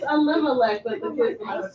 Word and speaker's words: Elimelech: It's Elimelech, but the kids don't pronounce it. Elimelech. Not lemonade.